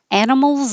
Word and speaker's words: animals: So, animals instead of Annie, if you said animals, it's over pronouncing the little I in the middle that is not stressed. And so that would change to or I. And it shouldn't stand out because it should be very short and not stressed.